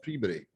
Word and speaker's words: Peabody: It looks like Peabody, but it's pronounced Peabody.